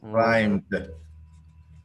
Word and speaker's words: climbed: Because the pronunciation of the verb, it doesn't end with the B, but with an M, like climb. Okay. In that way, it must end with D. With D. Climbed.